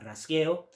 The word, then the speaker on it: rasgueo: we are going to be looking at some rasgueado or rajeo or rasgueo, depending on how you want to pronounce it.